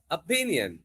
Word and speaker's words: opinion: అలాగే I want your opinion. Opinion. Opinion. P మీద stress ఉంటుంది.